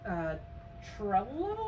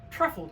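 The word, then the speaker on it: Trefl: This is a 1,000 piece Transformers puzzle from Trello, I think? Truffle, T-R-E-F-L, Truffle Prime, which is Hasbro.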